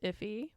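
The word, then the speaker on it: IIFE: me um oh uh i learned that this is pronounced iffy if he if he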